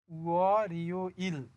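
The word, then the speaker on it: 월요일: তাহলে এই শব্দটার উচ্চারণ হবে উয়া রিও ইল, উয়া রিও ইল মানে সোমবার।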